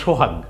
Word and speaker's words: সোহাগ: বলবেন বা সোহাগ পড়বেন আপনি কি এমনে বলবেন সওকার সহকার হাগ আপনি তো এটা বলবেন আপনি বলবেন সোহাগ রাইট জি তাইলে ওই বানানগুলো